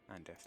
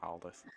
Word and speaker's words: Andith: Andith, not Aldith. Not Aldi. Why did you point that out? Because I said it wrong. It's not Aldith, it's Andith.